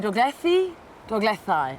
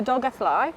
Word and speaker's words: Dolgellau: Yes, it's either Dolgellau when you ask people how it's pronounced, that's the very Welsh way, yep. Or Dolgellau is also right, and people will mix between the two just when you think you've got it. They'll use the other one just to keep